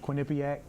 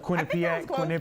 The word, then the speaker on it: Quinnipiac: There's Abdullah Bundu from Largo is going to Quinnipiac. I never know if I'm pronouncing it right. Quinnipiac.